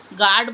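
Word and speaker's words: guard: You silent में गार्ड बोलते हैं हम इसे।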